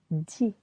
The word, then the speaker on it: dis: Je dis. Silent S. Tu dis. Silent S. Il, elle, on dit. Silent T. Nous disons. Vous dites. This one is irregular. Disez doesn't sound so good for us French.